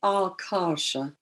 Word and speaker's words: Akasha: universally recognized transliteration and an s letter s with that dash over it is pronounced as a sh and the two a's are long so it's alka it's the right way